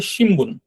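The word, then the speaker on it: しんぶん: মনে রাখারও প্রয়োজন নেই তারপর আমি বলে রাখছি যে এটার উচ্চারণটা অনেকটা ম এর মত করে হবে এগুলো ভুল হলে কোন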